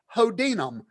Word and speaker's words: Chodyna: You type the author's last name in, and her last name, let's see, you pronounce it Hodinam, but it is spelt right.